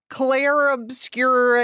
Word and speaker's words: Clair Obscur: Hello, everyone, and welcome back to the premiere video game podcast, where this week we are talking about Clair Obscur Expedition 33.